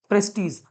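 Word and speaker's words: prestige: तक चलता रहे, और प्रेस्टीज, जिसको इसको बेटा प्रोनाउंसिएशन में प्रेस्टीज कहते हैं, कई लोग प्रेस्टाइज भी बोलते हैं, बट प्रेस्टीज बोलता हूं।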